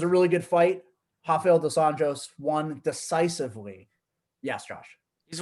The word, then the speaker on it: dos Anjos: Rafael dos Anjos won decisively. Yes, Josh. He's one of those ones that does Anjos. He's Brazilian. So it's not in Portuguese. It's not pronounced as an H.